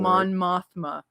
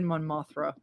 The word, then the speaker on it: Mon Mothma: end on a great, you know, ending for Mon Mothma. Sorry, I said it wrong. No, he said Monathra.